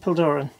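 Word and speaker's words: Puilladobhrain: i'm pronouncing i'm told by the locals it's pronounced pildoran it's halfway between urban and art fern and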